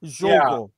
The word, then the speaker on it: Jogo: Was that a J at the front? Jogo. Yeah. Jogo. They pronounce the J in Portuguese.